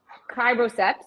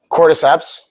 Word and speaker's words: cordyceps: mate the limitless lions mate the super human criboceps did i say it right cordyceps quarter steps you're right that's it got it